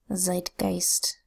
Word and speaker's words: Zeitgeist: Here we have Z that says Z, our first EI phonogram, making a long I sound, I. T that says T, then a G that says G, followed by the EI phonogram saying I again, an S that says S, and a T that says T. Z I T G I S T. Say it fast.